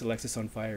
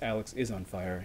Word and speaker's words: Alexis On Fire: approach by the way I heard someone pronounce Alexis on fire as Alex is on fire and I've confirmed that that is not correct it's Alexis on fire so this is actually